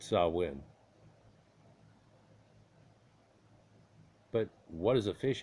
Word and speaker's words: Samhain: The reason it came to mind for is you'd look at this and you go, okay, well, this is Samhain, or they would pronounce it Samhain.